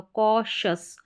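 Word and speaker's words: cautious: सी को यहाँ पर जो ये AU है, AU एक पैटर्न है, ये भी दोनों के दोनों वाउल लेटर, इसको अ करके प्रोनाउंस किया जाता है, तो ये बन गया कॉ। सी को क पढ़ा तो कॉशस, कॉशस, न्यूट्रिशस, एम्बिशस और कॉशस।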